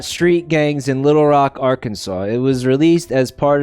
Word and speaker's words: Arkansas: For years, I refused to pronounce it with a W at the end because that's not a W.